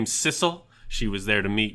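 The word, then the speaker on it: Sissel: As a sisle like Bissell. I I just figured sisle like Bissell cuz it's spelled similar to the vacuum cleaner. Huh. I don't know. And it rhymes with missile.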